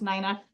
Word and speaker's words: Nina: Um, I get it all the time, but it's my name is pronounced Nina. That's okay.